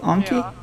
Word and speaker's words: Anki: remembered this actually the the name comes from a japanese word um so i'm pretty sure that it actually is anki because in japanese the r is pronounced so i actually think we're the ones in the right yeah we're wrong but